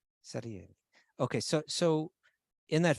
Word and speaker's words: Salieri: was the other one solieri who can help me celery right so so if you say how do you pronounce it salieri okay so so in